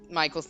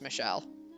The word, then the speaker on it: Michel: I cannot believe I've pronounced Michael's name Michael the entire time, only to find out how many hours later that it's actually supposed to be pronounced Michelle, I assume.